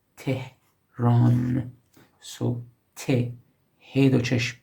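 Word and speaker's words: تهران: Tehran again, medial He do çeşm, Tehran, Tehran. So Te, He do çeşm, Re, Aleph, Nun, final separate Nun. The name of the capital of Iran, Tehran.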